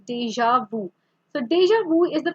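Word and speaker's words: déjà vu: So this is not pronounced as deja, this is deja vu.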